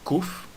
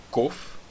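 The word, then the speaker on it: קוף: A próxima letra é a letra kuf, ou também pode ser chamada letra kof. E a letra kof é a única letra que não é uma letra sofit que desce abaixo da linha. Agora, a letra kuf, ou kof, tem o som de café.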